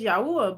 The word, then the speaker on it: Yahuah: So, somebody tried to say his name not Yahweh. His name is Yahwa.